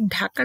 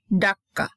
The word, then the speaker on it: ঢাকা: যেমন আমাদের ঢাকার নাম ছিল কি জানো তো আগে, ডাক্কা, DACCA, তারপর ওটা চেঞ্জ করে করা হলো DHK, ঢাকা, আমরা যেটা বাংলা উচ্চারণ করি সেভাবে।